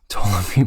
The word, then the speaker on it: Ptolemy: History and the Maccabees tell us before the battle, an assassination attempt of Ptolemy was, no, the P is silent, Ptolemy by some of his own men took place.